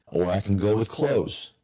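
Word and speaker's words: Cloze: I've heard great things about Lofty or I can go with Clothes. I think that's how you pronounce it. C O L Z E.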